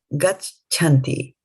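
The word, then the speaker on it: गच्छन्ति: There is a cha here, gach, and then there is a cha here, chanti, gachanti. And so when you pronounce them together, they kind of merge with each other.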